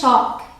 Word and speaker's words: talk: अब अगला वर्ड है TALK, इसे प्रोनाउंस करते हैं टॉक। यहाँ पे L साइलेंट होता है, तो L की कोई प्रोनाउंसिएशन नहीं आई, आपने बोला टॉक।